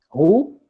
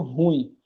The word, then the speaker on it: ruim: Então, a pronúncia aqui, o correto é ruim, certo? No dia a dia a gente diz assim, eita menino ruim, mas o correto seria a gente dizer, eita menino ruim, tá certo?